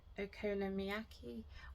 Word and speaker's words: okonomiyaki: I'm gonna make okonomiyaki, which I did just Google how to pronounce that. I did. So hopefully I'm saying it. I think it's okonomiyaki. I think that's it.